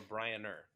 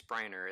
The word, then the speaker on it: Bryner: and briarner today are you brian or brian earth it's bryner it's if you say my